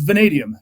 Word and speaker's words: vanadium: How do you pronounce that one again? I never heard of that one. Yeah, it's vanadium.